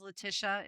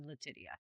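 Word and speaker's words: Letitia: She would tell people my name is Leticia. It is spelled Li Ti T I A and no it does not said Latia.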